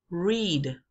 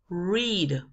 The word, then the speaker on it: read: interior de la boca en inglés la letra es r y se pronuncia r es un sonido gutural No se crea con